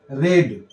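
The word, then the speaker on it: read: तो a book will be रेड। रीड spelling same ही होता है, रीड का सेकेंड फॉर्म और थर्ड फॉर्म रेड हो जाता है।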